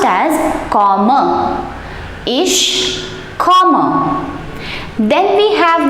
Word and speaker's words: komme: the conjugation for ish form, and that is pronounced as komme.